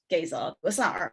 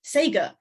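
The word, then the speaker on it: Gesar: So allegedly, Xi mispronounced the word Gaizar as Sager, driving home that these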